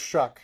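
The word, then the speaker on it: Shough: It's pronounced Shuck, not Shuck. Shuck. It's Shuck, because I saw the memes. Yeah. It's like shucking around and finding out.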